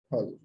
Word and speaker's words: फल: 'पा' शब्द के पूरे वर्ग का उच्चारण दोनों होंठों को जोड़कर किया जाना चाहिए। इसलिए, यहां हमें यह जानना आवश्यक है कि क्रिया के दो प्रकार के अर्थ होते हैं।